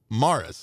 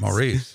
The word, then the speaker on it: Maurice: guy older gentleman who spelled his name like maurice but he pronounced it morris morris but i always called him maurice maurice yeah but anyway whitey